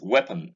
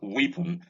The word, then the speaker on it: weapon: This is weapon and not weapon. I've heard a number of people say weapon, pronouncing the EA as E.